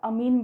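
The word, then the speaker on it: amine: 2 degree 3 degree अमाइन का structure मिलेगा। अब आप इसे अमाइन बोलो या अमीन बोलो, इट इज़ अप टू यू।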